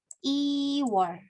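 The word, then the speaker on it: 이월: Oke, angka 1 ditambah wol dibacanya irwol. Il gitu ya, angka 1, il, wol. Lalu kalau Februari, iwol.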